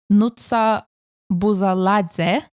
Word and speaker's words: Nutsa Buzaladze: And Georgia this year will be represented by Nutsa Buzaladze and her song Firefighter. Nailed that pronunciation, Katrina.